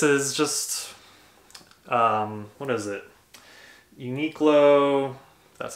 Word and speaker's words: Uniqlo: Uniqlo, that's how you say it, merino wool long sleeve shirt.